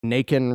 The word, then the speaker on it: Naken: You know, 'cause Naken rhymes with bacon.